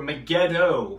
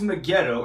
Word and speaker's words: Megiddo: town that's what armageddon means mount mageddon or megiddo to be accurately to accurately pronounce it throughout all the years mount megiddo and we'll look at examples from the old